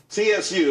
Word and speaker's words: Tsu: Tsu, TSU. It's pronounced Tsu though.